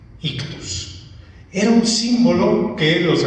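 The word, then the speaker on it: ichthys: Y la palabra es ictus. Ictus. Se escribe una I, lo que para nosotros sería una H, que en el griego es una sola letra, también CH, luego TH, una U y al final una S, ictus.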